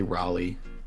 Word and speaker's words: Raleigh: let's try let's try vocabulary yeah they say Raleigh okay maybe I'm just dumb then but I